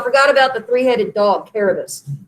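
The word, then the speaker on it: Kerberos: Oh, I forgot about the 3-headed dog, Caribus. It is a ka, not a sa. We changed the pronunciation. The original pronunciation was a hard K sound.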